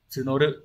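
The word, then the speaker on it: 募る: Bởi vì bây giờ chúng tôi đang, chữ Hán là chữ mộ, từ này sẽ đọc là tsunoru.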